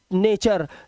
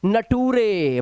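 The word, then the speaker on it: nature: अब यहां पर टी यू आर का मतलब है टुरे नहीं है टुरे अब बच्चों को लग रहा है टी यू एन यू टी यू आर ई एन ए टी यू आर ई इट्स नॉट नेचर नटूरे बच्चों को लगेगा नटूरे है नटूरे नहीं है भाई ये टी यू आर ई से बन जाता है चर अब पढ़ लो इसको ने चर ऐसे ही फ्यूचर पोस्ट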